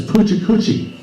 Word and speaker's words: Pecha Kucha: This wraps it up for the whole, how do you pronounce this? Pecha Kucha.